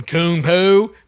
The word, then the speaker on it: คุณปู่: to say it properly so I go in Khun poo teach them the right way to say it